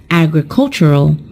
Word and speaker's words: agricultural: When we turn it into an adjective, the stressed syllable is also changed, and it is pronounced as agricultural.